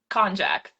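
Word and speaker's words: konjac: Conjac.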